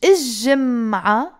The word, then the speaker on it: جمعة: You say either without L. جمعة. You pronounce the T مربوطة. جمعة الجاية. You have to pronounce the T مربوطة when you don't put the L. Or if you put the L, you're saying الجمعة without pronouncing the T مربوطة.